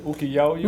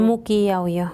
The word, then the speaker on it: Muquillauyo: ¿Cómo se dice? ¿Uquillauyo? Muquillauyo. Muquillauyo. Sí. ¿Dije bien? Sí, Muquillauyo. sí, correcto.